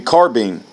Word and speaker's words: carbine: Tops with the carbine, rhymes with combine, bunching bullseyes at 300 yards.